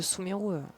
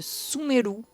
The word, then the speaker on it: Sumeru: Je vous propose que l'on continue la quête de Sumeru. Que je prononce toujours à la japonaise, mais en vrai, j'en sais rien.